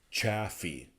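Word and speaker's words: Chaffee: Bray and that's it YouTube pronunciation says chaffy chaffy chaffy road chaffy I don't know if I can pronounce it chaffy Road just sounds so wrong Maybe is correct everybody's been saying it wrong anyways it's a hell of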